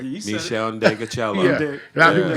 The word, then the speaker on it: Ndegeocello: Michelle Ndegeocello.